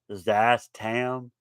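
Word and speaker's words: Szass Tam: uh then you have zazz tam i think the the s it's spelt s z a s i'm assuming the first letter is silent or zastam or zastam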